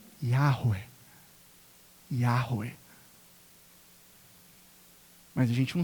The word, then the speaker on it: Yahweh: gente não tem certeza, a pronúncia é algo como Yahweh.